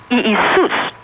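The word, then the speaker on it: Ἰησοῦς: Because the Greek, they pronounce Iousis, Iisus. That's how they pronounce Jesus.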